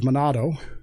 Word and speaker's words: Manado: Eventually, Shark was sent to northern Sulawesi, near the city of Manado, as it's pronounced today.